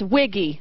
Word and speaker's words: Wiggy: His last name is Wiggy. That's how you say it.